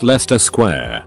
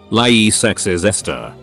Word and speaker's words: Leicester Square: It's just pronounced Leicester Square.